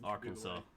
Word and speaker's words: Arkansas: I I couldn't remember can't decide whether it's Kansas or not this is just um just however you want to pronounce it Arkansas is the technical pronunciation of it other is spelled or